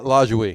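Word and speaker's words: Lajoie: LaJouie.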